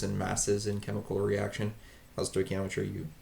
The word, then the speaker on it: stoichiometry: Stoichiometry, you pronounce it stoichiometry.